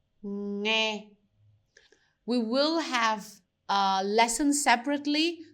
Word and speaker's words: nghe: You have the ng sound at the end. And this one is going to be ngô, nghe, ngô, nghe.